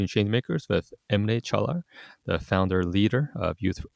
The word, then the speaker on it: Caglar: So uh yeah is spelled. Yep. And then uh chalar is c a g l a r chaler.